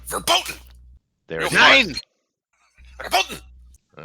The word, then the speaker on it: verboten: You gotta Verboten. say it like a German. You gotta say it like a German would. Verboten.